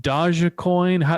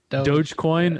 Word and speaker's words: Dogecoin: about bitcoin and elon musk and is it dodgy coin what what's the the right way to say it was going dogecoin okay and i hear rumors that uh elon